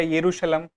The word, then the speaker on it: यरूशलम: Jerusalem या यरूशलम अलग-अलग उच्चारण से हम इसे कहीं कहीं पर सुन लेते हैं।